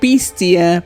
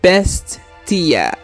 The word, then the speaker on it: Bestia: Bestia. Not Bestia, but Bestia.